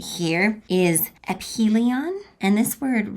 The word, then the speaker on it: aphelion: So this word right here is aphelion, and this word right here is perhelion, okay?